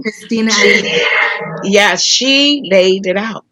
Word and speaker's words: Christina: they did such a fantastic job and that christine aguilera is that how you say her name christina yeah she laid it out she she's she's